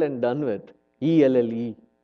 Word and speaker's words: Elle: ELLE. That's it. Must be French. Ha. No wonder. You can just write one L and done with. ELLE. And you still say it as L.